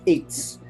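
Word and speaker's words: עץ: word, which is tree, which in Hebrew is pronounced eitz.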